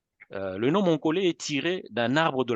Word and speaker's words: Monkole: la qualité de soins le nom mongolais prononcé avec un accent final même si on ne met pas l'accent mais on le prononce avec un accent sur le E le nom mon collet est tiré d'un arbre